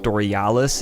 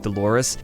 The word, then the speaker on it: Dolores: I'm sorry but yeah it's like Dolores not dorialis I'm an idiot they